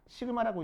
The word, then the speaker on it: 시그마: 시그마라고 읽어줍니다. 시그마. 참고로 그냥 알고 계시라고 읽어.